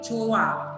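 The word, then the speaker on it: 좋아: Nah, bacanya itu bukan joa atau joa, tapi joa.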